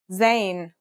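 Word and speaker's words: زاي: In terms of pronunciation, you say it just like the English Z as in zebra or elazer.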